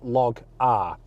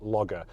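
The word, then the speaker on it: LogR: cool thing called Honda log R now I'm assuming that's meant to be pronounced logger and when you press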